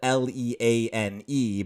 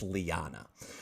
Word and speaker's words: Leane: old tongue is that doubled syllables very frequently get pronounced separately instead of together. That's how you get a name like Liana that is spelled Leane, but it's not pronounced lean, it's Liana.